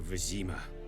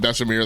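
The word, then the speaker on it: Vesemir: And I know I've been calling him Vesimir, that's my I can't remember if that was my limited exposure to French or Spanish that causes me to pronounce my V's like a B.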